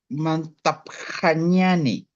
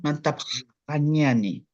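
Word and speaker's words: mantapxañani: X pronuncia en Aymara como J. A ver. Mantaj, mantaj, Mantapjañani. Eso. No es x como en español. ¿Ya? Sí. ¿Ya? Mantapjañani.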